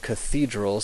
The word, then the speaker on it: cathedra: I kaiia kilia now the th is pronounced um really like a t just like a t sound um as in the word Thomas it's never pronounced the